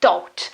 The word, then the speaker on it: taught: In the last case you have a t sound, so thought.